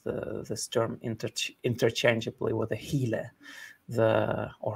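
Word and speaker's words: ὕλη: Mani himself uses this term interchangeably with the hile, or hule, right? It would be the correct pronunciation of the Greek word, which literally translated as the matter.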